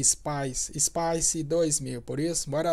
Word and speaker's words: SPICE: a força aérea brasileira usando a Space ou Spice né acho que a pronúncia em inglês é Spice Spice 2000 por isso